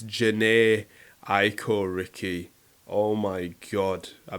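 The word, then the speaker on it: Jhené Aiko: i'm so sorry because i've been saying her name wrong the whole time and i've been listening to her for ages so i'm really sorry it's my fault i didn't do my research it's janae aiko ricky oh my god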